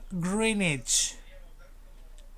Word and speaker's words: Greenwich: is called are you prepared yep it's called greenwich greenwich never language even though some in people